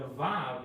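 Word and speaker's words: ו: So anyway, the Vav is pronounced as a U, which actually is not U, but like U, like the word you too, like you too, like so. It could be pronounced as U, or it could be pronounced as an O, and also a V, depending of where it is located. So it could actually be a vowel, or it could be a consonant.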